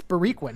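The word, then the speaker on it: Boriquen: hear that you hear and they spell it b-o-r-i-q-u-e-n i think and so that's confusing for people when they come to williamsburg brooklyn because they're like okay go down grand wait it's bariquin well that's just because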